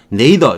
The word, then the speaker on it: nadir: 네이더 이렇게 발음을 하는 거예요.